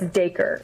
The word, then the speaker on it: Dacre: So then it's Dacre. So some people are like, is it Dacre? And like, I'm Southern, so it's like acre with a D, so it's Dacre.